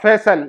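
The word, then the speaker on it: फ़ैसल: लेकिन अक्सर लोग फैजल फैजल करते हैं।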